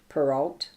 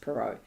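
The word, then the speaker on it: Perrault: Hood by Charles perau peralt I think it's pronounced perau is a t relating to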